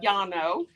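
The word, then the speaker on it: Llano: um went down to Lano Texas that's how they say it down there I say Yano because two L's together is pronounced as a y in the Spanish language Ed and so it's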